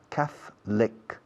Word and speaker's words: Catholic: Se escribe Catholic, pero se pronuncia, la O casi no se dice o no se dice en absoluto. Catholic. Catholic.